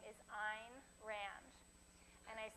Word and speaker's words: Ayn Rand: philosophy of rational selfishness the correct way to pronounce her name ein rhymes with the word mine so keep that in